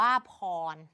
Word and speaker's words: พร: สอบ อะไร อย่าง นี้ คำ ว่า พร ตัว นี้ เนี่ย มัน เกิด จาก พอ พอ รอ คือ พอ พาน คือ พยัญชนะ ต้น อ้อ คือ สระ รอ คือ ตัว สะกด เห็น ไหม คะ เด็ก ๆ คำ นี้ อ่าน ว่า พร แต่ ใน การ เขียน เรา จะ ไม่ เขียน ว่า พอ รอ พร แบบ นี้ ไม่ เอา เพราะ มัน สะกด ด้วย ตัว ร เรือ ดัง นั้น ใน การ